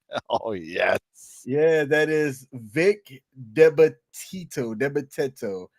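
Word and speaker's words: Vic DiBitetto: Yeah, that is Vic Debateto. How Yeah. do you say it? You're from that area. How do you say it? Yeah. Yeah. Well, hold on. Scroll back up. Vic the better though.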